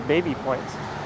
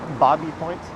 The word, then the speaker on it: Baby Point: park are coming up it's spelled the baby point i used to say it that way until someone corrected me they're like no you knucklehead it's bobby points and if they were